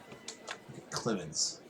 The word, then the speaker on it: Clements: is his name again clemens rhymes with limits our great has him